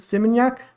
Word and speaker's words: Seminyak: And we went to how do you pronounce it? Seminyak Beach.